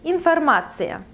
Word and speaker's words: информация: So information in Russian is информация. Информация. You see here the ending ция, and please pay attention, this ending is used in Russian instead of the ending sh in English words.